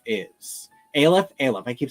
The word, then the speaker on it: Aleph: They all say Aleph, but it is a Jewish word.